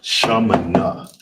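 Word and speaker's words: שמונה: How to say the number eight in the Hebrew is shamina.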